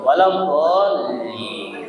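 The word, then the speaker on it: ولا الضالين: Jadi lamnya dinaikin Bapak Ibu dolin gitu baca dolin waladin.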